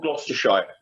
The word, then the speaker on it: Gloucestershire: It's a place called Gloucestershire. Well, I've heard of that. I just didn't know how to pronounce it.